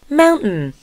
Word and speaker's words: mountain: Mountain. 그죠? 염담이가 좀 얄밉죠 얘들 그죠? 발음이 mountain Mountain. Mountain. Mountain. 아프나 그죠? mountain 이렇게 했지 않습니까? 트은 발음은 트 무음이라서 그래요. Mountain.